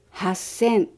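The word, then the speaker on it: 八千: Vì hachi và sen theo quy tắc thành hassen, còn hachi và hyaku theo quy tắc thành happyaku, nên chúng ta đọc là hassen happyaku.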